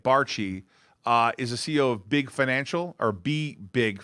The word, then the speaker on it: Barchie: Barchie, that's how you say it, Barchie, is the CEO of BBig Financial Solutions.